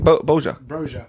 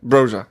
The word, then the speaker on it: Broja: Boja. Broja.